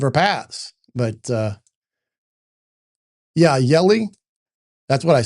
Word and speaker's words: Hjelle: It says it said in my pronunciation it sounds like jelly but it's Yelli. So the H is silent, I guess.